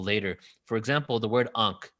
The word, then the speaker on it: ankh: the invisible world so ankh was actually pronounced n-k-h not a-n-k-h n-k-h because the a